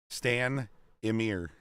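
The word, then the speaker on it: Stanimir: Stan Emir.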